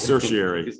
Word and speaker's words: certiorari: You were close, certiorari, yeah. There's a urge to always add the extra syllable that's not there for some reason.